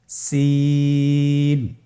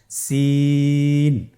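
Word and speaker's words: سين: একই মাখরাজ আপনারা সিন হরফটি আবার উচ্চারণ করুন সিন আবার উচ্চারণ করুন সিন মাশআল্লাহ আলহামদুলিল্লাহ আমরা অল্প সময়ে পাঁচটি হরফ শিখে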